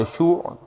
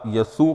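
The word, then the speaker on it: ישוע: سے معروف ہے۔ عبرانی میں اس کا معنی یشوع یا یسوع کے معنی میں ہوتا ہے، یعنی اس تلفظ کے ساتھ اس کو ادا کیا جاتا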